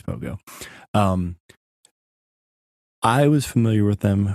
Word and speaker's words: Pohgoh: How do you pronounce this?" But then it's Pohgoh.